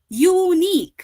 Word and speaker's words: unique: okay so in this sentence also unique okay it starts with a consonant sound you that is why you